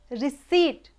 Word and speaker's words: receipt: comb next receipt it's not received it's received receipt it's not received receipt s or actual pronunciation key t h u m p let